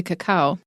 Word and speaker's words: cacao: chocolate by the way there's two ways to pronounce cacao I mean I say a cacao and I never heard Bruce's pronunciation until today so but it turns out having thoroughly reviewed the dictionaries there are two ways to say this word so he's gonna